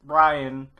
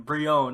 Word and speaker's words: Brion: Tara was kidnapped by metahuman traffickers, and that's the theory that Brian, or the show calls him Brion. I'm still gonna say Brian.